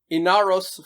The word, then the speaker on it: Ynaros: up what is it it's inaros falling it's sorry it's Italian it's spelled y-n-a-r-o-s which you see on